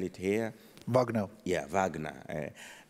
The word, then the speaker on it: Wagner: Yeah, Wagner. For us, we pronounce W as way, so we call them Wagner.